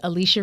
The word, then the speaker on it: Alechia: can find me all over Beyonce's internet at Alicia and it's spelled Al EC h i a last name you can also connect with me tribe.